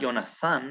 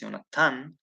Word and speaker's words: Yonatan: And it's not Yonathan, it's Yonatan, with a tav, with a hard tav.